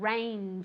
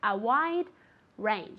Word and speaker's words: range: Be careful with that G at the end. Range. It's like a CH, but softer. A wide range.